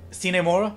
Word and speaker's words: Sine Mora: grasshopper is that even how you say it sinemora yes that's how you say it oh is